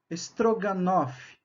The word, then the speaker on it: strogonoff: para a língua latina se escreve stroganov só que a pronúncia em russo strogonoff e aí viram nosso